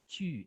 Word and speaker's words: tu: Second person, we say tu, not true, but tu.